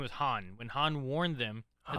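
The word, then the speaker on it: Hahn: pronounced Han.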